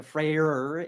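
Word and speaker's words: Freyr: call it heimall so I'm pronouncing the freyer especially to distinguish from Freya so we got fre and freyer I'm going for the hard R all all variety then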